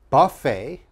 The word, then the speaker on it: buffet: And the last one, very difficult to pronounce. This is a buffet.